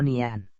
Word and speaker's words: Nihon: usando el kanji y se pronuncia ni pan o nian antes de que fuera